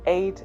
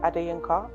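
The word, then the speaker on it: Adeyinka: play the video people have called me Aid ad or there are several mispronunciations of my name including and people have shortened it to so my first name adiyanka means surrounded by crowns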